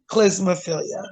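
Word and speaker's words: klismaphilia: But yeah, that is pronounced clismophilia.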